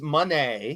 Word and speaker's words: Moné: If you were expecting Mercedes Moné, because that's how she pronounced it, care.